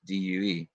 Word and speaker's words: Deux: said do you know basically the x is silent and it's just due so anyways and then